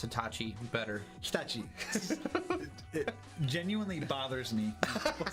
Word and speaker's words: Hitachi: And why he's telling us how to pronounce Hitachi better. Hitachi.